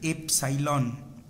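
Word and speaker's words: epsilon: এটার উচ্চারণ হচ্ছে এফসাইলন।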